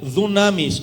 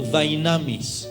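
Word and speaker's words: δύναμις: La palabra poder, escrita en este versículo en el idioma griego, se pronuncia dunamis o dynamis.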